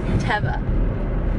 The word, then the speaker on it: Teva: How do you pronounce it? This is not a tomato issue. Teva.